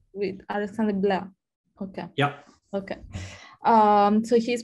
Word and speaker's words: Blais: I don't know if it's French. Without the S. With Alexandre Blais.